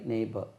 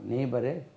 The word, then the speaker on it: neighbour: நெய் நெய்ன்னு சொன்னால் குதிரை கணிக்கிறது இல்லையா, நெய். த ஹார்ஸ் நெய்ஸ்.